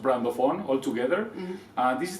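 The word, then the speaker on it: Brandoffon: My my vision for brands and my word is brand ofon and it's pronounced brand ofon all together.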